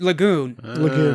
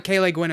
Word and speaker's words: Le Guin: stupid captain bandra they they flew the lagoon which is l-e-g-u-i-n ursula k le guin yes they pronounced it lagoon that that's probably hospital yeah i always pronounced it ursula caleigwen as well famous sci-fi author one